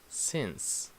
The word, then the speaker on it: since: here since 2010 so this e e has a a sound since since so I live here